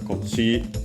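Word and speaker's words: こっち: I'll quickly check it just to be sure. Kochira, yes, unaccented. Kochi, accented on the last syllable, so those are the exceptions.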